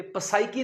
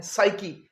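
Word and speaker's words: psyche: पी इसमें हम pronounce नहीं करते। पसाइकी नहीं ये है साइकी पी एस वाई सी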